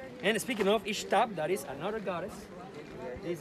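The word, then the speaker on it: Ixtab: to the mayan language you should pronounce it like s h like to say shadow or shuld in english that's the way to pronounce those words with the letter x and speaking of ishtab that is another goddess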